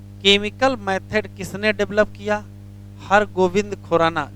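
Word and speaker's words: Har Gobind Khorana: हर गोविंद खुराना। जरा स्पेलिंग सही कर लेना, बी है, वी नहीं है, हर गोविंद खुराना है, हर गोविंद खुराना।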